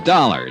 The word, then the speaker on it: Dollar: It's Dollar, Johnny Dollar. Dollar, huh? Yeah, rhymes with color.